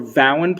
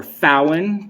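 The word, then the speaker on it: Vauen: Down here are my 4 Vowen pipes, or Fowen, depending on how you want to pronounce it.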